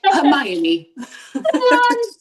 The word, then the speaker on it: Hermione: You know, there's some names that I've gone, that's how it's pronounced. That's not what I was reading. Oh, well, I know now. Like Hermione.